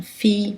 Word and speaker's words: fille: Dans tous les autres cas, ILL se prononce ye, comme fille, briller, ail, feuille, bouillir, vieille.